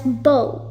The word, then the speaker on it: bow: is bow and bow the first one you pronounce it as bow as in bow and arrow first sentence you could